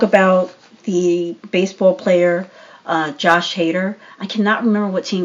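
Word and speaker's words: Hader: it but uh yeah that's how you pronounce his last name how do you Josh hater oh right yeah and I think is yeah I know is like hater e88 yeah something like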